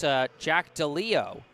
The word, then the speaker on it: DeLeo: And then number 12, I've been saying Jack DeLelio, but apparently it's Jack DeLeo. So the E in the name is silent.